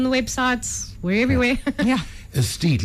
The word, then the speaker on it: Aesthete: Aesthete, let me spell it for you. AESTHETE, like aesthetic, but this is Aesthete Creative Agencies.